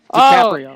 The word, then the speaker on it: DiCaprio: DiCaprio.